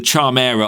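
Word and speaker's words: Charmera: Either the Charm era or the Charmer people pronounce it different.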